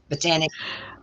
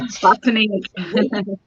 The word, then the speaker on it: Botanique: Our guest has been Lisa Randall with Botanic. Botanic. I still say Botanique. With Botanic. Okay, what's the name of your business? Botanic.